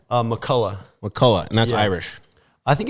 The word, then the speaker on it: McCullough: how do you say your last name uh Mulla Mulla and that's Irish I think it's Scottish or